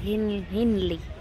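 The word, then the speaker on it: Henley: We are at henly. How to pronounce it? Hen. Like hen, like an hen.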